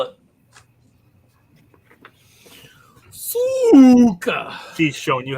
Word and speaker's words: Suka: I thought it was Suka, not Sucka. Sucker. S-U-K. I always assumed it was a C or something in there. No, Suka. That's how you spell it. Suka.